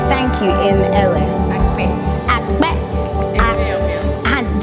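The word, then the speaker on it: akpe: Akbe.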